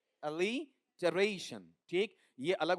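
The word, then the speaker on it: alliteration: अनुप्रास या एलिटरेशन। इसका उच्चारण एलिटरेशन या एलिटरेशन। एलिरेशन।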